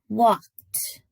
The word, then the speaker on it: walked: Walked. Walked. Walked also has a t sound at the end.